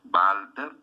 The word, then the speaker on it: Walter: analizar a un autor que empieza con w que se pronuncia como de labio dental porque es alemán entonces llama valters o sea como si fueran walter válter y rápido muy fácil benjamín